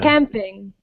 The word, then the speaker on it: camping: Camping. So here we emphasize the first part of the word.